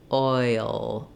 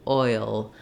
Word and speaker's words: oil: a hidden sound between the oi and the UL it's kind of a dark it's a dark L which means it has a little bit of a schwa sound before the back of my tongue is down oh in that schwa position while the front of my tongue lifts oil oil and so in this